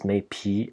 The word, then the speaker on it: 渼陂: Probably, in the Tang Dynasty, this was probably an E rhyme. That's why he says Meipi, and we still have this pronunciation in modern Chinese as well. So Meipi, yes, why not? So Mei or Meipi, 携我远来有美皮 for the sake of the rhyme.